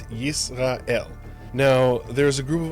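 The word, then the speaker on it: ישראל: We're going to use the local pronunciation for this country, and we're going to call it Yisrael.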